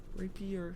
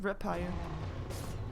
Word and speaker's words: Rapier: Did I say it wrong? Rapier. Rapier, not Rapier.